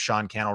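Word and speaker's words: Sean Cannell: meeting my name is Sean canel rhymes with YouTube channel in just a second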